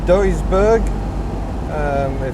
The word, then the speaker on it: Duisburg: is amazing that's another beautiful day we're near Duisburg that's how you say it pay attention on